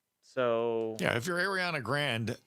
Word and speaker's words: Grande: So yeah, if you're Ariana Grande, how do you say it? Grande?